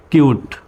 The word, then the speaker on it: cute: CUTE, কিউট। তো এবার কিন্তু আর সিউট বলা যাবে না, সির উচ্চারণ স্বর মতো হবে না। সিউট বলা যাবে না, কিউট।